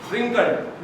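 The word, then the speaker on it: wrinkled: रिंकल पे W silent है, रिंकल्ड, रिंकल मतलब झुर्रीदार।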